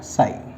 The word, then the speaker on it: chi: Denoted by this symbol, magnetic के लिए M लगा दिया and this is साई, this is साई, CHI, कैसे प्रोनाउंस करना है बेटा, साई।